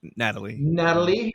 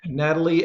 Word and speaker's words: Nathalie: And it was directed by Jessica Thompson and written by Blair Butler and stars Nathalie. I think it's Emmanuel, pronounced Natalie. Natalie Emmanuel.